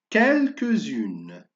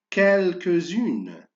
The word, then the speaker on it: quelques-unes: Le mot suivant, le dernier mot, quelques-unes. Répète, quelques-unes. C'est très bien. Alors, je fais la liaison et je fais attention à la lettre S se prononce Z.